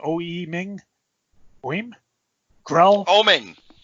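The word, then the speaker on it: Oeming: Oming. Oming, thank you.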